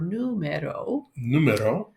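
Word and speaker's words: número: Numero. And famoso is famous. Famoso. I think numero has a, I know you're having problems with an accent on the U, yeah, I think.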